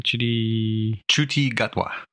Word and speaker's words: Ncuti Gatwa: Ncuti Gatwa.